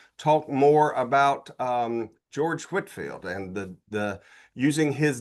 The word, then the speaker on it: Whitefield: Well, the first lesson anytime we talk about Whitfield is we have to figure out how to pronounce his name, right? You know, I mean, you can probably tell whether somebody doesn't know if they call him Whitefield.